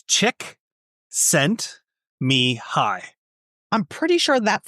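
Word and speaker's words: Csikszentmihalyi: So, I studied him in university and it's it's chick sent me high.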